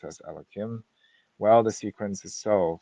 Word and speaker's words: Elohim: In this verse, the second divine name is written Yud-Kei Vav-Kei, but pronounced as Elohim.